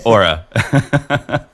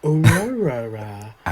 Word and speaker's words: Oura: Is it pronounced Oura? Oh, yes, Oura. There it is. That is. I was trying to overcomplicate it. I was like, Aurora.